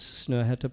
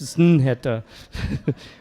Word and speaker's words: Snøhetta: People always ask me, does that slash through the O mean I shouldn't pronounce it? Like, it's Snøhetta.